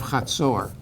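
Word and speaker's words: Hazor: half the city of khatsur you'll see it written with the z or it's ha is how you say it and there there's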